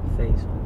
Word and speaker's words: Faisal: Faisal. It's supposed to be pronounced Faisal, but my dad, he's not Arabic, so he doesn't pronounce it the original way.